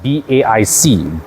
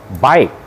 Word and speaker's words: BAIC: And I'm not kidding you because I always thought it was pronounced BAIC, but officially they actually call it BAIC globally. All right, you go to the global HQ of Beijing Automotive, they will teach you to pronounce this as BAIC.